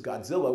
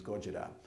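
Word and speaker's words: Gojira: this decade now Goa we all know this as Godzilla which of course is a total mispronunciation of the Japanese Goa and Goa for those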